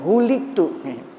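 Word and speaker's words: هُلِكْتُ: Bukan halaktu bacanya, huliktu.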